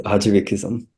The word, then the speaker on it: Ajivikism: Could you name some literature on how do you pronounce this again? It's Ajivikism.